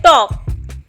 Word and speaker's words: talk: एक और एग्जाम्पल मैं आपको यहाँ पर देती हूँ, टॉक, टॉक, TALK, टॉक। तो टॉक में हमारे पास K से पहले L है तो L हमेशा साइलेंट होता है।